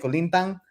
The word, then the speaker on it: kulintang: Kulintang?